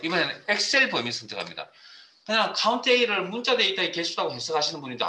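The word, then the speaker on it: COUNTA: 자, 이걸 카운트 A라 그럽니다. 물론 뭐 사용하시는 분에 따라 표현을 카운터라고 읽는 분도 계신데 저는 카운트 A라고 읽겠습니다.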